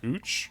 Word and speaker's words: Couch: Yeah, because there's a street in Portland that's called Couch, but it's actually pronounced Cooch, I guess.